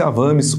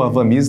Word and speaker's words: Avamys: corretamente as medicações Então esse avames ou Avamys dependendo aí do da sua pronúncia ele é o forato